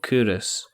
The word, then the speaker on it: Culross: There's a place along the road from me called Curus. Yeah. Mm-hmm. And it's spelled Culross, Culross.